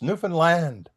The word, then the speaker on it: Newfoundland: Well, first I asked him, how do you say the name of this place? Because you can hear it Newfoundland, Newfoundland, new this, on and on and on. And he says, it's Newfoundland. And I can't say it